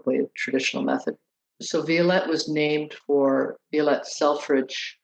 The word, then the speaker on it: Violette: I say Violette.